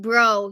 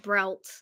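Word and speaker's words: Breault: there you go that's spelling it correctly it's pronounced bro yeah but in English it's pronounced brout yeah actually you know what I'm going to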